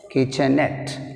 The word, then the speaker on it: kitchenette: Kitchenette last syllable is net, we have stress mark on net.